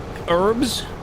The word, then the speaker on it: herbs: I don't know why Americans say it like that. Why? Please don't. It has a H on it. Herbs. Fresh herbs.